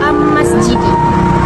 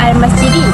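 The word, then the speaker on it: الْمَسْجِدِ: Contoh sebutan yang salah ialah am masjidi. Tapi bacaan yang betul ialah al-masjidi.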